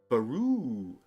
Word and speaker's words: Baru: Chris says it's Baru. Emphasize the second syllable.